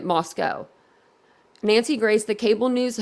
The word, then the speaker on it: Moscow: for tips and gossip mispronouncing the town's name Moscow instead of calling it Moscow Nancy Grace the cable